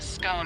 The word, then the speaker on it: scone: rhyming with gone and scone rhyming with bone are accepted pronunciations though Regional variations exist what can you tell